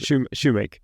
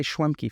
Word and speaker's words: Schewmake: what's your last name how do I pronounce Shoemake Shoemake I always want to say schwemki for some reason because that's totally off right no but that's a